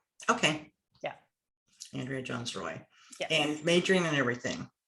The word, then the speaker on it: Jones-Rooy: It's Jones-Rooy. So as though there's only one O in the Roy. Okay. Yeah. Andrea Jones-Rooy.